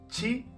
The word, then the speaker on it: ち: Mucho cuidado aquí porque no es ti, es chi.